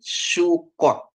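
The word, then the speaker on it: סוכות: ya Bapak Ibu ya Jadi kalau dia bacanya Eh samek dikasih apa suruk ya dia bacanya su sedangkan kop dikasih dengan O jadi Ko Jadi bacanya jadi sukot ya sukot ya jadi sukot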